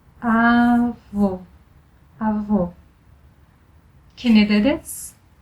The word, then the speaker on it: avô: To pronounce closed sound O, you can compare it to the O vowel in the word holy. Your lips are very rounded. O, avô, avô.